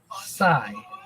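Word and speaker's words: scythe: Sigh. And if you can't spell it after that, ask the Grim Reaper.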